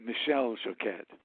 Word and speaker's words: Michel Choquette: Yeah, he's actually French-Canadian, so he pronounces it Michel Choquette.